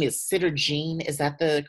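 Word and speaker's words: Sederginne: Now this one's name is Sitter Jean. Is that the correct way to Yeah.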